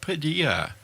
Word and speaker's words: Padilla: He is our executive producer, and Padilla. Hello. Hello. And you, your last name rhymes with tortilla.